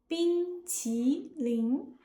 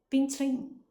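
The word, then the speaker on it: 冰淇淋: In standard Chinese, like how I say it, each syllable is clear and separate. bīngqílín But, Cinder's syllables blend together. bīngqílín He rushes through the word. To a native ear, this sounds mumbled or slurred.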